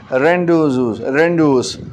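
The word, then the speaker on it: rendezvous: फिर है रेंडोस, इसमें Z साइलेंट है।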